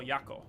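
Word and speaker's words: Jaakko: Because they pronounce it with a J, like with a Y. Y-O-Y-A-K-K-O, Yako.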